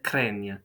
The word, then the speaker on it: craignent: vous craignez, il, elle craignent. And be mindful of the pronunciation because the group GN is going to be spelled out ni. Craignent, craignent, right?